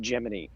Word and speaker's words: Gemini: episode that we just it's pronounced Gemini and here are the reasons why do you have a